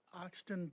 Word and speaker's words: Oxton: gonna have to help me with the the pronunciation or your last name it's oxton oxton o-x-t-o-n thank you i appreciate that